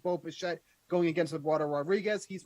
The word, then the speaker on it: Bichette: And like you said, it does rhyme with Shmo Bichette. It is Bo Bichette, 10.2 DraftKings fantasy points he's averaging over his last 10 games.